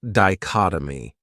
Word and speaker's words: dichotomy: Another great noun is dichotomy. This word has four syllables and the stress is on that second syllable. Dichotomy. That third syllable has that schwa, that uh sound.